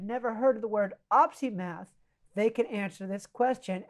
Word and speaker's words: opsimath: So we can just say the word OpsiMath, OpsiMath, three syllables.